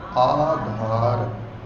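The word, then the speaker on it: ਆਧਾਰ: ग्यानी के नाम आधार जो ए द मात्रा है कन्ना है य जरूर उच्चारण करना है कि उच्चारण होवेगा आधार ब्रम जनी के नाम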